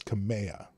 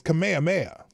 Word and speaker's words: Kamehameha: to my friend who lives in Dallas it's pronounced kamehame kameha or is it kamea I thought it was kamea kamehame it's Kamehameha not kame huh Tommy huh anyway I'm traveling